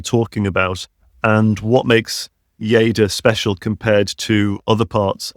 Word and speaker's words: Lleida: I'm really happy to talk about our territory, Yada. And and I'm excited to learn. First of all, I had to Google how to pronounce your region and it's Ya, correct?